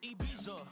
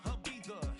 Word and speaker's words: Ibiza: Yeah, it's pronounced Ibiza, actually. What's the difference, man? Ibiza, Ibiza, you won't see me in neither.